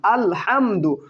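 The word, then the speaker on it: الحمد: পেশ দু, আল হামদু, আল হামদু। তাহলে দেখুন সাকিনের উচ্চারণটা কেমন হয়? হামজা জবর লামে জজম আল, হা জবর মিমে জজম হাম, আল হাম, দাল পেশ দু, আল হামদু, এইভাবে উচ্চারিত হয়, তাই না?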